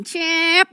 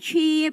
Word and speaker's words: Cep: Ya, Cep dengan E-nya yang panjang. Cep gitu kan ya. Cep atau Cip? Kalau English gitu bacanya Chip gitu kan. Kalau Indonesia, Cep.